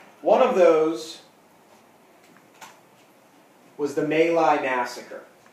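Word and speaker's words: My Lai: of those was the male i massacre now may lie looks like my leg okay because it's pronounced male i the male i massacre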